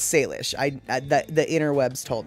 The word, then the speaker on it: Salish: so um yeah it's salish it's actually it's not an it's not leash it's lish l-i-s-h so it's it's like